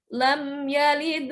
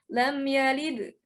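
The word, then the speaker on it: لَمْ يَلِدْ: yang the Lini nah cara bacanya bukan lemnya leader walam yulad itu bukan ya tapi lem yalid walam yulad Nah itu lam yalid masih mantul tapi ada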